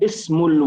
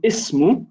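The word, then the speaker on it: اسمُ: to show us that this alif, known as Hamzatul Wasl, is only pronounced at the beginning of the sentence. So notice I say ismu, I pronounce it. I say ismu, I pronounce it. However, the alif on al-walad and the alif on ism and alif on al-bint, they're all silent.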